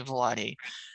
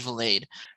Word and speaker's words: Vilade: I know you always say Vilade, but it is indeed Vilade.